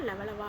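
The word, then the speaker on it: Levallois: இந்த லவாய்சியன் கருவிகள் அப்படிங்கறத பிரெஞ்சு மொழியில வந்து எப்படி உச்சரிப்பாங்கன்னா லவலவா அப்படின்னு சொல்லுவாங்க.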